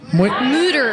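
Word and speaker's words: Mütter: No, we went to the Moyer Museum. Is that how you say it? Mooter. Just say it real quick. Exactly.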